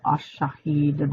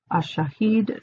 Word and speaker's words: ash-Shahid: want to call on the name of ash-Shahid, the divine attribute of ash-Shahid, the witness, and that's spelled S as in Sam, H-A-H-I-D.